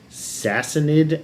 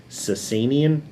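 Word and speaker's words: Sasanian: learned this history before it used to be called the sassin Empire in English but it's since become the cenan Empire has anyone heard of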